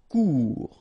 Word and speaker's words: cours: cours final not pronounced cours remember when you combine o and u together get the sound ou cours similaire final pronounced